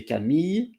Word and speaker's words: Camille: And for this time, I chose Camille Jones. I don't know if it's the way you pronounce the first name in English, because in French we say Camille, Camille.